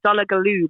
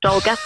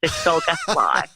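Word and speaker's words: Dolgellau: family down in a place I call it doll galoo but it's pronounced do guess why doll galoo dollar Glo that's that's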